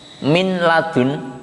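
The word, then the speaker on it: مِن لَّدُن: Min ladun, maka membacanya min ladun, tidak boleh didengungkan sampai 3 harokat seperti bigunah tadi, ya.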